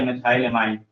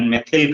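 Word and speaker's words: methyl: देखो इसका pronunciation मिथाइल करते हैं, कुछ लोग इसका प्रोनाउंसिएशन मेथिल करते हैं, तो मेथिल भी सही है और मैं इसको प्रोनाउंसिएशन मिथाइल कहता हूँ। तो जो भी आप करते हो उसको यूज करिए, कोई दिक्कत नहीं है।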